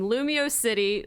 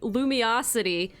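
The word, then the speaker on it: Lumiose City: How to pronounce this town's name? Lumio City, Lumiosity, Lumiosity. We're not doing Lumiosity.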